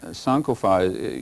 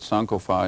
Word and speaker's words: Sankofa: Yeah, Sankofa, you can pronounce it either way, but Sankofa in the tree language is 3 words, Sankofa.